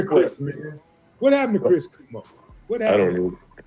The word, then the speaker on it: Cuomo: Uh is it is it Kumo Ko? Kumo. It's Kumo. Quomo. Quomo. C U O M O. Quomo. Yeah. C. I got I know how to spell it, but yeah. Quo quo. Quomo. I think it's Quomo.